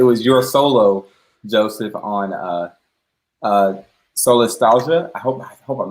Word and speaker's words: solastalgia: So I assumed it's pronounced like nostalgia, solastalgia, because it means the feeling of homesickness when you're still home.